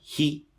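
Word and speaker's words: היא: he. 영어에서 he하고 굉장히 발음이 비슷하죠. 똑같죠.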